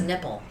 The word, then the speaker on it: Knipple: you date a man whose last name is Nipple? It started with a K. Knipple? So the K is silent?